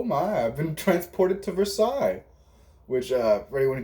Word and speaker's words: Versailles: from my my hooked on phonics perspective it's spelled like uh verse sally's i that's how i pronounced it for the longest time uh but until i realized it was pronounced versailles anyway so banister is literally just like uh